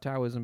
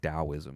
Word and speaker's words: Daoism: Towism became wellknown in the 8th century as a religion of the Tang Dynasty. So it's really close to I think Daoism is actually how it's prod pronounced with a